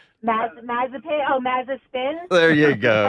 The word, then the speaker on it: Mazepin: Now, how do you pronounce his last name? Mazepin.